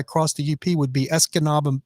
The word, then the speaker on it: Escanaba: you once I crossed the EEP would be Escanaba Escanaba it looks like s Canada or SG is Canada but it's pronounced Escanaba Michigan and then I would come down to